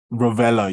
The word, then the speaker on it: Rovella: Is it Rovella? Rovella, yes, Rovella.